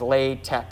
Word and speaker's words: LaTeX: homework in now that looks like the english word latex but the way most people pronounce it is lay tech it's out of latin